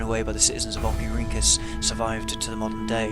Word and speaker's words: Oxyrhynchus: How do we pronounce this word? Oxyrhynchus.